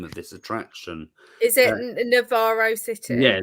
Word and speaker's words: Navarro City: say this name of this attraction is it Navarro City yeah Navarro City so that's in the building shop at the